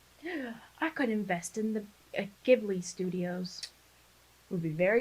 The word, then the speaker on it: Ghibli: giblets. Ghibli.